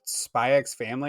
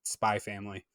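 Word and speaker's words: Spy × Family: I mean, but the only thing though is it Spy X Family or is it just Spy Family? No, it's X.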